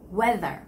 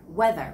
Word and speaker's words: weather: think about you know th sound having your tongue stick down so it's weather weather weather forecast weather forecast news